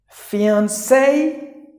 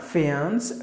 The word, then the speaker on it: fiancé: a bag okay so fiance not fans fiance fiance it refers to the